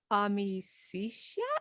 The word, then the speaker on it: amicitia: And then one of his companions is Gladiolus amicitia. Mm-hmm. Mm-hmm. Yeah, and I mean English. Who knows? We could pronounce it any way we want. For the most part. Amicitia is friendship, or amicitia in ecclesiastical pronunciation.